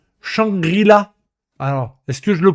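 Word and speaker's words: Shangri-La: Et c'est pas Shangela frontière, c'est Shangrila.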